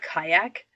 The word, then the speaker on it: CIACC: a committee to understand it's called kayak. And for the longest time I was trying to spell it like the boat. Um, but it's not. It's CIACC.